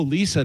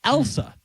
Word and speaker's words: Elsa: I goes, my girlfriend Elsa, and they'd go, "Oh, Lisa, nice to meet you." Everybody would say Really? Lisa. Yeah, and I'm like, do you not hear it all? Am I saying it wrong? Elsa. It's Elsa.